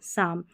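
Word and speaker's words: psalm: PS का वाला हमने देख लिया साइकोलॉजी, और यहाँ पर साम, यानी P जो है ये साइलेंट है इसलिए स पढ़ा, PN को न पढ़ा क्योंकि P साइलेंट है।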